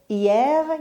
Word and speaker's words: hier: همونطور که گفتیم در زبان فرانسه حرف اش تلفظ نمیشه. hier یعنی دیروز.